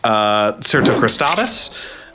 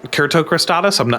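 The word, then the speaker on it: cyrtocristatus: Yes, and I think that I had also never been clear on the pronunciation, but it's derived from like Kurt. Yeah, I thought. Yeah. That makes me think it's probably Kertocrostatus.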